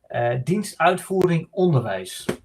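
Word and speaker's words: Dienst Uitvoering Onderwijs: It's Dutch government, and I pronounce it in Dutch. It's Dienstuitvoering Onderwijs.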